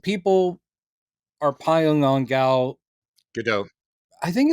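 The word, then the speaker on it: Gadot: I mean, people are piling on Gal GDO. I think it's actually a there's a T but it's pronounced either GDO or Gdote. Gdote. Okay. Yeah. But I I think the T is pronounced though.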